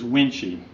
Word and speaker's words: Wuensche: my name is winchy pronounced as winchy I'm running for the